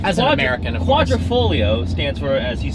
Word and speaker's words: Quadrifoglio: Quadrifoglio stands for, as you said, four-leaf clover. And it's pronounced like it's spelled if you took out the G.